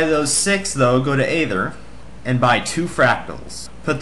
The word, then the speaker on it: Aether: later I pronounce it ather a lot of people criticize me for that but that's just the way I pronounce it can't really help it all right first